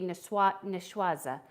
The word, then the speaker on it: niçoise: In French, it'd be niçoise sandwich.